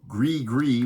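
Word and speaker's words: Gris-Gris: this Persona the night Tripper now this album pronounced GRE gree which I mispronounced in another video and thank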